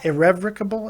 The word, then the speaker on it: irrevocable: is that even is that even right yeah irrevocable IR rable IR rable for